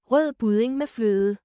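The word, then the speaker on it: rødgrød med fløde: That's actually how you say it. Rød budding med fløde.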